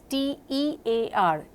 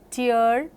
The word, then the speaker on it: tear: It is T-E-A-R, tear in your eye, and tear in your dress. So, tear and tear, same spelling but different pronunciations.